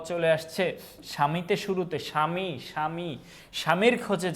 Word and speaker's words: স্বামী: বলি সবদেশ বলি না তারপরে জ্বালা এটা কিন্তু জাবালা বলি না সাপদ সাবাপদ বলি না ধ্বনি বা হচ্ছে ধবনি বলি না স্বামী সাবামি বলি না তার মানে ব এর